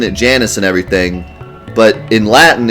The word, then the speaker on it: Janus: game, it does not necessarily mean like I have to pronounce it the Latin way. It's in English, so I can pronounce it the English way if that's how they decided to pronounce it. I can pronounce it however I want anyways. It's a proper noun and no one says it out loud. So, sorry, but I want to pronounce it Janus.